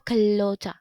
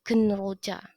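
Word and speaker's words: 근로자: geloca pekerja Nah jadi ini kan tulisannya genroca ya Tapi bacanya geloca geloca Jadi bukan genroa karena melebur gitu ya selanjutnya gyongcalgan gongcalgan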